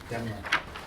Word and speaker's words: Daimler: I think Ruth Daimler is, I think you got her last name wrong. Demler.